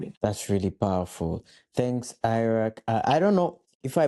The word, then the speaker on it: Airak: Well, personally, as the creator, I pronounce my name as Airak, but Airak passes because Airak.